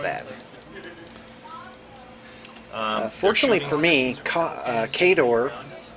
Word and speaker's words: Khador: fortunately for me uh kador by the way and that's how I was saying it and that's how you say it in the book but I was wrong